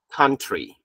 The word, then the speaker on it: country: 它读成 R, like country, country.